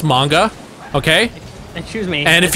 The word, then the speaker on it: manga: there John but I will say this it's pronounced manga okay excuse me and if you go to